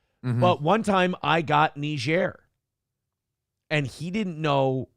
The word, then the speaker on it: Niger: I'm like, oh, son, it's pronounced Niger. And I looked down at my card, and for a second, until we had continued the conversation, I was like, yeah, fucking nailed it, dude. Nice work. But, I go, buddy, that's pronounced Niger.